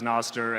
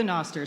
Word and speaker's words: Nostr: You may hear Carla pronounce it as Nostr and me as Nostr.